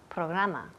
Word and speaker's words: program: Programa. Program. Good. Program. Program. Yes, program, program. Y la última letra aquí es una M, program. Los labios tocan, program.